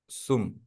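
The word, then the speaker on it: གསུམ: ना, जैसे ये है, इसको हम लोग हाँ, उच्चारण करते हैं सुम, है ना? हाँ, सुम सुम जी। लिखा तो भी हमको समझ में आ जाएगा, क्योंकि हमको पता है पहला वाला हिडन है या हम्म। साइलेंट है, और दूसरा वाला जी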